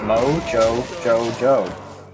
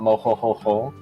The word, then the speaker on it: MoJoJoJo: what was that the way he prefers it to be pronounced is moe joe joe joe uh it is not mojo or mo yo-yo-yo but yeah thank you